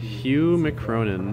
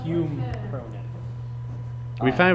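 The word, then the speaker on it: Hume Cronyn: Hugh McCronin. No, Hume Cronin.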